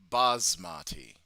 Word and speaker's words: basmati: Busmati. Not double S. Oh, Strasa. Yeah. Yeah. Right. So, Strazza. Uh, so it's Basmati.